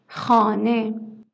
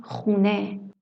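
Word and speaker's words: خانه: Khane. Khane means house or home. Informally, we pronounce it khune.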